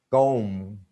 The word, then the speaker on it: comb: Comb, tomb, basically, date, doubt. B isn't pronounced.